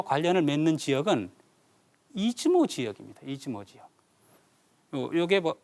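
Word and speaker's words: 出雲: 스사노가 일본 열도와 관련을 맺는 지역은 이지모 지역입니다 이즈모 지역 요게 어 우리가 지금 현재 일본의 그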